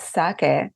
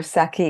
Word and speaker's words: sake: break it down first of all the word sake or saki as it's often mispronounced in the west is used in Japan